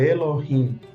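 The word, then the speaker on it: אֱלֹהִים: de e para pronunciar Elohim Elohim Então esse Alef não tem som para colocar vogal embaixo tem que colocar essa semivogal aí o e de Elohim bom é outro detalhe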